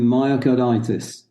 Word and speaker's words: myocarditis: I was just about to say, Gavin, myocarditis.